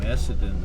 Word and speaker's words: Essendon: It's spelled E-S-S-E. E-S-F. E-S-S-E. E-S-S-E. Essa. Essa. No, E-S-S-E-N-D-O-N.